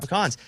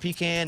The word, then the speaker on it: pecan: And they do, and they're very passionate about pecans, as am I. I love a pecan.